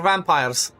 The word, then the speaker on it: vampir: We have our vampires. Vampir. This is exactly I think it's the way you would say it in general in countries around here. Same same way that it's spelled in Romania.